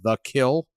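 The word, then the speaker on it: Kiln: I've mispronounced all sorts of things, including a 4-letter town in Mississippi that apparently is now The Kill, not K-I-L-N.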